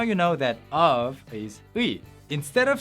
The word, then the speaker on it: 의: Now, the official standard pronunciation of 의, it's basically a combination of ư and 이. Say ư and then 이, but almost at the same time. 의, 의.